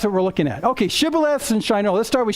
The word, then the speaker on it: Shibboleth: It says, they said to him, "Then say Shibboleth." And he said, "Sibboleth," for he could not pronounce it right.